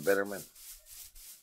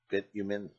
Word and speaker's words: bitumen: You get that from Bitterman. What is saying it wrong? Bitumen.